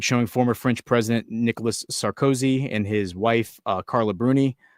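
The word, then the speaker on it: Sarkozy: Or or Sarcoi, I think is how you say his name. Nicholas Sarcoi.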